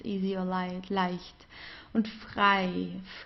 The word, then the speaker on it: frei: Then we have the combination EI, das I here, the egg, das I. So it's pronounced the same as the English I, like I do this and that, right? It's just das I. This is how we pronounce it. No matter whether it's at the beginning, in the middle, or at the end of a word, just as with IE, we pronounce it as I, leicht.